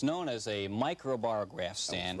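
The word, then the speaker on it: microbarograph: bought this instrument but it's known as a micro bar graph stand right that you got it and you got the pronunciation right as well i usually do now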